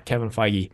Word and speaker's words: Kevin Feige: That's how you pronounce his name? Yeah, Kevin Feige.